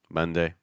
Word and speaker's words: Monday: week will be Monday Monday couple things I want you to noce I want you to noce to schwas sound on mun so it's not ma ma it's more M um the other thing